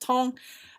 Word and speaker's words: Tan: tall now so the in textbook it says 10 but it's actually French so it's pronounced tong now so Paul Broca